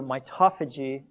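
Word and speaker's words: mitophagy: tied in and then my toe Phase II or my toffee g of my preferred pronunciation but I had somebody used to make me say my toe so you may hear both from me but my toffee G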